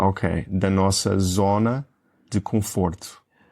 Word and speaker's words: conforto: O N, tu dizes o N ou é como se fosse um M? Um som nasal? É como se fosse um M. Então acho que um espanhol ou um falante de inglês diria conforto, porque nós vimos aquele N, mas é um som nasal, como se fosse um M em português, não é?